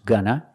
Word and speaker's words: going to: look at the sentence it's going to pronounce gonna it's going to take